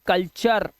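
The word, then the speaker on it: culture: ऐसे ही टी के बाद यू आर ई, टी के आगे यू आर ई लगाओ तो क्या उच्चारण होएगा, चा का, जैसे कल्चर।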